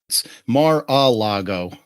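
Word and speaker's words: Mar-a-Lago: had to say last night I flew to Mar lgo for the premere of the man you don't know about Donald Trump Mar Alo thank you I thought I was saying it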